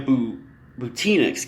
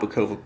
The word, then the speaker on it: Butina: And Maria Butina, it's Butina, not Bukova.